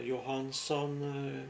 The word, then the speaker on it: Johanson: My name is Johanson, or Johansson, we pronounce it.